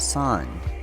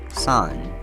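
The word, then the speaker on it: san: Ichi two is pronounced knee knee three is pronounced son Sun four is pronounced yon Yon 5 is pronounced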